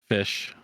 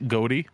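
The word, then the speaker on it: ghoti: to be fair this is a white fish goatey oh God do you uh no I'm sorry it's pronounced fish yes that's what I said it's it's white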